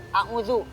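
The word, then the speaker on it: أعوذ: Nah, tapi karena ada titiknya, maka cara membacanya adalah a'udzu.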